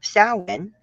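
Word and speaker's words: Samhain: Um, for those of you that don't know, um, sin, which is spelled Sam Hayne.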